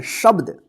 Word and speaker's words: शब्द: इसको क्या पढ़ेंगे शब्द इसको शब्द मत पढ़िए शब्द ब और देखिए य